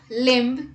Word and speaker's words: limb: b rule number one b is not pronounced after m at the end of a word let's look at the examples dumb limb crumb comb bomb thumb